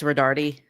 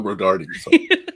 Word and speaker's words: Rodarte: So, first of all, it's Rodardi. Oh, Rodardi. So, pronounce the E.